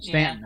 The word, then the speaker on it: Staunton: south of them uh stone stanton however you want to pronounce it down stanton okay stan it's spelled staunton but okay i just looked like